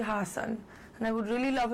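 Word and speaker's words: Haasan: thee Trudy - no it should be Hassan and I would really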